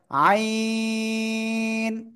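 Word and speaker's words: عين: এই অক্ষরের নাম কি আইন এ অক্ষরের নাম কি সবাই জোরে জোরে বলেন তো অক্ষরের নাম কি হ্যাঁ গলার ভিতরে আওয়াজটাকে একটু চেপে ধরে চার আলিফটা নিয়ে উচ্চারণ করতে হবে আইন জোরে বলেন সবাই জোরে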